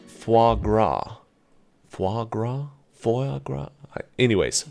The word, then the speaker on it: foie gras: I believe it's pronounced foie gras.